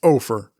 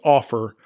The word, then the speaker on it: Offer: Vince Ofer. I think that's how it's pronounced, because otherwise it's Offer, and Offer would be an incredibly, ironic name to have for somebody who's a pitchman.